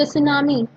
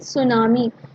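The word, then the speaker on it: tsunami: Is this is called, not सुनामी, it's called सुनामी। टी जो होगा यहाँ पर साइलेंट माना जाएगा, राइट।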